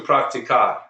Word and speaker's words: practicar: practicar yet let's do practicar that's a long word praco see I'm putting the stress on the second to last syllable praco practicas praca practic